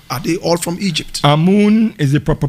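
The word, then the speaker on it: Amun: where sakana from are they all from egypt a moon is a proper pronunciation yes but it is also known as amen as you say in the prese as the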